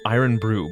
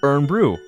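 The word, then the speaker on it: Irn-Bru: know for educational reasons pronounced iron Brew but really I've always heard people call it ER Brew oh my goodness I've been wrong about it the whole time holy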